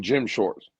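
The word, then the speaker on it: Jim Schwartz: Uh Jim Jim Shorts.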